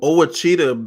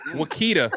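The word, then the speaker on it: Ouachita: Yo, Owachita Baptist. Oh, buddy. No, it's Wakita. It's Wakita. That's that Owachita. It's Wakita.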